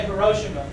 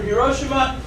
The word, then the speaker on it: Hiroshima: Or the Japanese say Hiroshima, which I guess that's the way they say it, so I should say it like that. So little boy is uranium, goes off over Hiroshima.